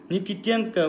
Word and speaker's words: Никитенко: Никитенко ударение экинчи тамгасында.